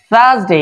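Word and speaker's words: Thursday: আজকে কথা বলবো থার্সডে থার্সডে এর উচ্চারণ থ থ এর উচ্চারণ কি ভাবো উপরের দাঁত নিচের জিভের উপরে যাবে এভাবে সা থার্সডে থার্সডে থার্স সা টান হবে এখানে টান থার্স থার্স থার্সডে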